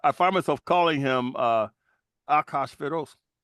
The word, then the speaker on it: Achashverosh: But I find myself calling him Akashveros. Achashverosh. Right. You chose a Persian name to stick to the Hebrew pronunciation.